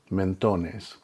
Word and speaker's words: mentones: And notice the placement of the accent where the emphasis needs to be placed in the word. mentones.